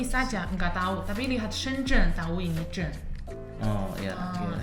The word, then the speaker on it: Shenzhen: Shenzhen. Zhen ya, benar. Shenzhen. Soalnya banyak orang Tiongkok mereka lihat ini nggak tahu. Ini Zhen. Ya Zhen. Tapi orang Tiongkok lihat ini saja nggak tahu, tapi lihat Shenzhen tahu ini Zhen.